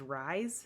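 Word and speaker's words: Rhys: I think it says Rise is how you say it, R-H-Y-S, by Grace Notes.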